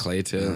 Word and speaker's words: Cleito: Oh, it rhymes. Because it's Cleito and Plato.